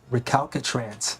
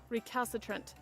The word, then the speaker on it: recalcitrant: Recalcatrance hunk of junk. Recalcatrance. Am I pronouncing that correctly? Recalcatrant having an obstinately uncooperative attitude toward authority or discipline. Recalcitrant. Recalcitrant.